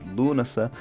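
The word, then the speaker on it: Lúnasa: there is a festival called lunasa to use the modern irish pronunciation that is named after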